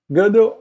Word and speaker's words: Gödel: Gödel é um matemático, não se pronuncia exatamente assim, que esse O com trema, né, é em alemão. Kurt Friedrich Gödel, é um O assim.